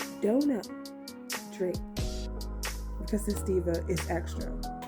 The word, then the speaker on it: Dona Drake: have Miss Duna Drake and yes it is pronounced Dona Drake because this diva is extra and wouldn't you